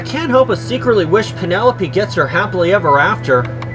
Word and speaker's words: Penelope: help but secretly wish Penelope gets her happily ever after I mean this is the girl who was too shy to correct me when I mispronounced her name is piano lope but now here she